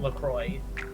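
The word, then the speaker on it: LaCroix: Yeah, they do say they pronounce it LROY and hope and helpfully mentions that it rhymes with enjoy.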